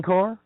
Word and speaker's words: corps: oh spiritual egg Marine Core core corpse nice how they pronounce it without the P huh let's just call